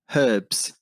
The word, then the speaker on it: herb: The one H that the English people pronounce that we don't is a herb. You guys say herbs. We would say herbs, right? Yeah. Every other place like you drop the H.